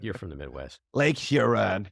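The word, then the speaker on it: Huron: Lake Heron uh UF hon how do you pronounce that you're from the Midwest Lake hiron hiron okay yeah so uh the UFO thing uh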